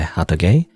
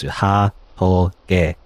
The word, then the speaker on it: Hatoge: It's like, I'm just pronouncing it because it looks like it's like in Japanese syllables. I don't know if it's Japanese necessarily. I'm pronouncing it like as if it's using Japanese syllables.